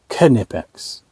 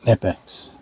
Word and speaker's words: Knipex: know you just you I believe these are called knipex and not nipex I've been saying it wrong for 9 years we got the